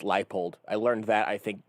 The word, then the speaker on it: Leipold: I just can't believe that his last name is pronounced Leipold.